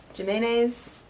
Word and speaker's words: Jimenez: Jimenez? No, it sounds like mayonnaise.